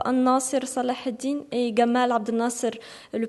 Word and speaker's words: An-Nasir Salah ad-Din: titre du film Saladin, qui se prononce en arabe An-Nasir Salah ad-Din, et Gamal Abdel Nasser, le président de l'Égypte.